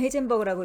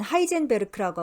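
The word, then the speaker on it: Heisenberg: 헤이젠버그스, 영어로는 헤이젠버그라고 읽고 이제 독일어로는 하이젠베르크라고 하고 우린 하이젠베르크라고 더 많이 알고 있죠.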